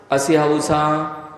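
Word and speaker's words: असिआउसा: पण 5 असियाऊसा, अ सी आ उ सा, नमा नहीं, असियाऊसा असियाऊसा असियाऊसा असियाऊसा असियाऊसा असियाऊसा असिया ऊसा असिया ऊसा असिया ऊसा असिया ऊसा।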